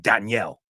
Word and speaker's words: Daniel: I'm like, what do you mean Danielle? Danielle is a girl's name. Daniel. O sea, eso en inglés. Soy Daniel. En inglés, no. That's Danielle is feminine. Daniel. O sea, que cambia la pronunciación.